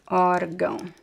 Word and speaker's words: órgão: So we have this word, órgão, right? So in this case, the stress is actually in the first syllable, and the second syllable is the secondary stress, órgão, órgão.